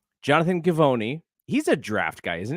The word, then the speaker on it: Givony: So there was a story that came out, ESPN, Jonathan, do you know how to pronounce his last name? Givony. Jonathan Givony.